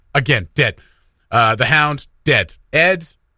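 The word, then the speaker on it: Edd: Ed. It rhymes with dead.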